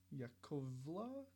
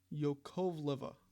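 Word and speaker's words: Yakovleva: Sasha Yakovla?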